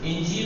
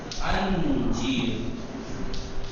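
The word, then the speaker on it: انجیر: फरंगी अंगूर गुलाबी गुलाबी अंजीर इंजीर नहीं अंजीर। ठीक है, प्रोनाउंसिएशन तलफ्फुज़ अंजीर करते हैं यानी मूस अनानास अनानास अनानास दूध फरंगी दूध फरंगी दूध फरंगी।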